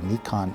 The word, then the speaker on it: Nikon: in the Mekong Museum we have to pronounce it properly Nikon is how you do it so now we